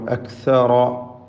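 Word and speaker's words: أكثر: അക്സറ, അക്സറ, ഇതിൽ റായിന് മാത്രമാണ് തഫ്ഖീം എന്നത് ശ്രദ്ധിക്കുക.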